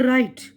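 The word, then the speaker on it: write: यहाँ पर राइट, डब्ल्यू नहीं पढ़ रहे हम, यानी लिखना।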